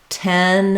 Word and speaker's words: ten: it as 10 um one thing to watch out for is for that e vowel you don't want it to open too far so I need to make a clear difference between 10 is open a middle amount and tan is open for the a vow is more open we also have tin